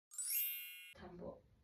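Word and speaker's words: 田んぼ: The pronunciation is ta. Ta. Ta. Tambo.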